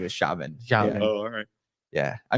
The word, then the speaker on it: Xiamen: So we ran in shaman, like Shamans. That's how you say it. Okay. Yeah. Shaman and Shaman. So No. It's it's with an x, so it, like, throws everybody off.